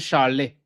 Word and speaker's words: chalet: But you pronounce it shalet.